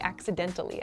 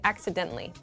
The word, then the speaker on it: accidentally: And with this pronunciation, I'm saying it really clearly, accidentally, accidentally. But, in fast speech, we say accidentally, accidentally.